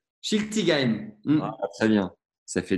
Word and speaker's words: Schiltigheim: Est-ce que tu peux me le prononcer ? Schiltigheim.